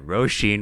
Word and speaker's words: Róisín: right, and I was saying Róisín Machine, but you looked it up and it's actually Róisín Machine.